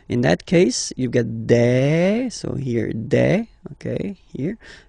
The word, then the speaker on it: des: Okay, and then the plural form, des. All right, here es, you pronounce it like e.